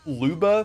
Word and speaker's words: Lubba: transn I I always I always pronounced her name Laba cuz I think Loba sounds funny. I mean, I I know Luba makes sense because like Luma, but I I just